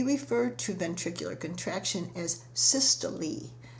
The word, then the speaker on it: systole: to ventricular contraction as systole sys tol e with a long e sound so systolic pressure is